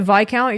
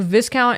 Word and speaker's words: viscount: Yeah, I feel like if you pronounce it vi-count, you're going to get in trouble. Even though it's probably correct. It's also English-ification of the word. So, viscount is correct in English pronunciation.